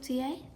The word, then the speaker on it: Dei: Imitatio Dei? Yeah, is that the right word? Am I saying it right? Latin? Imitating God? It's day. Dei.